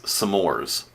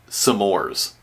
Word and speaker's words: s'mores: never heard anybody uh pronounce s'mores as sores like really hitting that apostrophe like I know that s'mores stands for some more but I've never heard anybody say it sores sores uh you know